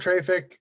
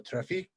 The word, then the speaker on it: Traefik: I go with Traefik, which is the word traffic with a French accent, because we are, after all, a French company. So Traefik.